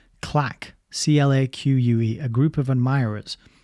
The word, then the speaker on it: claque: So it's kind of like the word clique, isn't it? I suppose nowadays we would say clique with an I, but back then in the 60s, it looked like they said claque with an A.